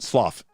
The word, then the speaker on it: slough: What did I say? Slow skin? Slough. I said it right the second time.